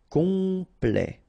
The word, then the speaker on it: complet: Temps, and then complet, okay, here a T at the end will open it, the sound of the E, so E, okay, plait, complet, complet, and then OM is